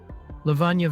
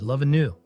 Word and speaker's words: Lavanya: I actually used to call her the same thing you just did, love anew.